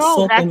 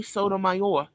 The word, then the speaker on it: Sotomayor: This one's Sotomayor. That's how he says his name is, Tommy Sotomayor.